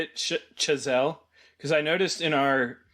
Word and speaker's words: Chazelle: Chazelle?